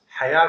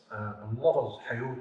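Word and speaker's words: حياة: top of the "Waw" Note that it is uttered by “A” sound "Hayat and Zakat" it is not uttered "Hayot and Zakot". Note that "Hayot and Zakot". are Aramaic pronunciation. and not in Arabic.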